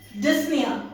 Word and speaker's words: dyspnea: So, the runner suffered from dyspnea. Okay? P is silent.